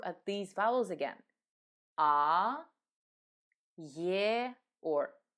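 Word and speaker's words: Я: important power is yeah this letter is pronounced in two different ways when it is at the beginning of the word or after another vowel we pronounce it as year just like the name of the letter but in all the other positions we pronounce it simply as a also let me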